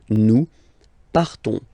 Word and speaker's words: partons: So classic ending ONS, you don't pronounce the S, you just have this on sound nasal. Nous partons. Nous partons.